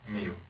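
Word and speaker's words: Miu: IU how do you spell how do you pronounce that me okay and what's your birthday do you like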